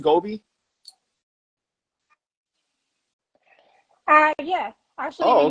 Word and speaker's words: Gobi: First of all, I do want to ask, I want to just make sure, is it pronounced Gobi?